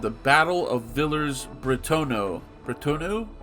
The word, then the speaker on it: Bretonneux: Bretonneux? I know that X is silent, that's all I know.